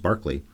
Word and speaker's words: Berkeley: man will soon meet Barkley Cole spelled Berkeley pronounced Barkley so Mr Dennis finchatton